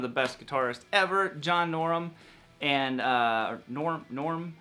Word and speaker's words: Norum: So this is, you know, one of the best guitarists ever, John Norum. And Norm, however you want to pronounce his name, I would pronounce it Norm.